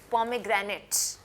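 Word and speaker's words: pomegranate: कते कैसे करते हैं पोमग्रेनेट पॉम ग्रानेट बिक य सी पीओ पम ए ए साउंड है पम ग ग्रेनेट ठीक है पम ए ग्र ग्र ग्रेनेट पोमग्रेनेट पोमग्रेनेट ये किसकी इंग्लिश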